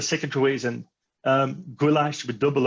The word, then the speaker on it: Goolash: behind behind the name goulash so it's pronounced just like the hungarian dish goulash yes it is the